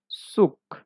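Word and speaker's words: Zug: ইয়া জেড এর উচ্চারণটা সেট হবে সেট স উচ্চারণ হচ্ছে সেট এক্সাম্পল দেখি সুক অর্থ ট্রেন সুক সুক অর্থ ট্রেন চলেন এবার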